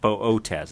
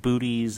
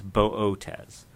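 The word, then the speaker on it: Boötes: in the constellation Bootes the two dots you see over the second Oh in this case just mean to pronounce both letters of the long o bow Oh tez it's not booties it's not bodis it's buh Oh tez I'll begin by putting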